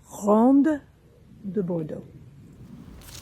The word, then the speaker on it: Ronde de Bordeaux: Ronde de Bordeaux. All right, so that's how you pronounce it.